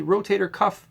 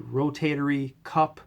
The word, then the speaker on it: rotator cuff: or miss misspoken term a lot of people say the rotator e cup or rotor cup no it's the rotator cuff muscles cuff like a shirt so that's number one